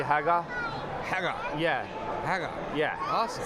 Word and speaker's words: Hagar: You actually, it's pronounced a little differently. You actually wouldn't pronounce the last R, so it'd be Hagar.